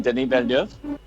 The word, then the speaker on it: Denis Villeneuve: And if you know the answer, let's see if you can pronounce it correctly. Oh, you mean Denis Villeneuve?